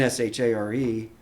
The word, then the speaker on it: Shar: spell it phonetically so with the accent over the a it's a long a it's pronounced share and that's precisely what